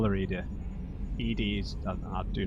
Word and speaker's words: EDI: yeah your name why are you named edie edie genetic pronunciation of edi that is an acronym for